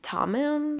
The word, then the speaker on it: Tommen: book of the boys of tommen that's how you say it series for the past